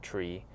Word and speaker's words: trie: Well, to me, it is the idea of the tree, the T-R-I-E, pronounced tree, stands for retrieval.